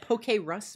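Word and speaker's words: Pokérus: sink keep your PC po how do you pronounce that poke Russ po po Rus poke poke it's poke like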